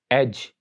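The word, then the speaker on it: edge: Rule ये है कि डी इज not pronounced in combination D जी, यानी जब भी लेटर डी जी के साथ डी जी कॉम्बिनेशन में आ जाए तो वहां पर लेटर डी साइलेंट होता है।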